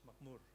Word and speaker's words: Makmur: Could you pronounce that, Muku? Success Makmur. Success Muku.